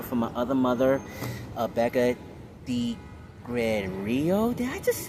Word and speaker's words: Degregorio: This is my brother from my other mother, Becca Degregorio. Did I say it correctly? You said it the way a lot of people accidentally say it. It's Degregorio.